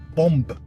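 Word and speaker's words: bombe: And uh what I learned today was uh was the French word for bomb as in the explosive is bomb. Pronounce the B.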